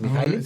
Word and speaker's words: Mihaly: Por eso Mihaly, que falleció de la Universidad de Chicago, como es checo me cuesta la pronunciación, es Mihaly.